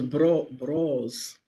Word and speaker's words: Bros: It was Bros. Like brothers.